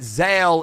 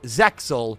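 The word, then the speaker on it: Zexal: If you're watching the original version, the X actually is silent. And if you listen to Yuma right here, it's obvious that Zale is the correct pronunciation.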